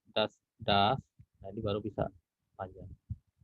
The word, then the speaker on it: dass: Ya, jadi kalau dia konsonannya double berarti bacanya tidak usah panjang a-nya, das gitu aja. Das.